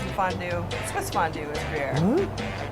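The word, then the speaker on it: Gruyère: It's kind of weird name, but Gruyere. something like Guerere?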